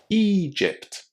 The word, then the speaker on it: Egypt: It's a very common difficulty, but all you need to do is to remember to say a long e at the beginning of this word. Egypt.